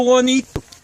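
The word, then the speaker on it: Bonito: Rancho Juanito. You know, it's, of course, Juanito is spelled B-O-N-I-T-O, you know, and Mexican, you know, and all.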